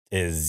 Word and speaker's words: Zeiler: Yeah, Zeiler is Zeiler is how you say it.